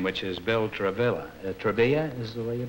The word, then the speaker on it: Travilla: your right name name which is Bill travilla Trava is the way you pronounce it Trava Trava is that Spanish or